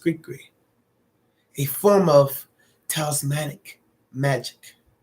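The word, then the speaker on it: gris-gris: dolls are created as griskris pronounced greekry a form of talismanic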